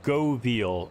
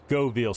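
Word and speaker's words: Göweil: There it is, Govil. So the W is pronounced like a V, as you would in German.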